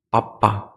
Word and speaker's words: papá: De que usted puede reconocer, por ejemplo, que es papá y no papa en español, un ejemplo clásico, ¿no? En la escritura y hasta en la entonación por la sílaba tónica que o está o no está.